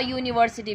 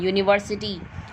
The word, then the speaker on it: university: A university, because the sound is coming from y. Unicorn, university.